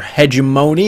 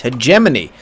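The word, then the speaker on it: Hegemony: to you by accidental grenade Studios no you pronounced it we're Mr hedony it's hemony all right we we got the Scrambler though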